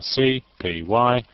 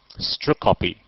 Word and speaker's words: strcpy: Strcpy. That's how you pronounce that, S-T-R-C-P-Y, strcpy. Or you can say string copy if you like, if you want to be literal about it.